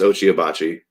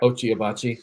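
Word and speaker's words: Ochai Agbaji: Is that how they pronounce it? Achi? Kansas? Abaji is his last name. Ochi. I think it's Ochi Abachi. Yeah. Ochi Abachi, like the grill.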